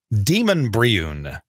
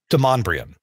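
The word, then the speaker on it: Demonbreun: It's spelled as if you would pronounce it Demon Briun. And that doesn't roll off the tongue very well, Demon Briun, but that's how it's spelled. Right. It's pronounced Demonbrion.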